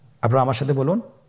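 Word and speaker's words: ب: বা হরফে টান হবে, এক আলিফ টান। আপনারা আমার সাথে বলুন বা, আবার বলুন বা।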